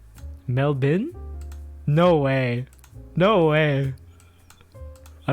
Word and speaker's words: Melbourne: insane i'm not pronouncing it's not pronounced melbourne either mel bert what is up with you guys that's crazy oh my goodness mel bin no way no way